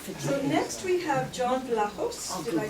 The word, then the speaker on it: Vlachos: So next we have John Vlachos.